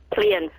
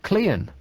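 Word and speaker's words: Caerleon: pronounce it for me clean clean mm how do you spell that c a e yeah r l e o n and it's pronounced clean mm so a e and r are silent I guess you could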